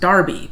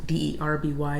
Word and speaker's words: Derby: our viewers for letting us know that it's pronounced darby because looking at it for us d-e-r-b-y we would say derby so that was very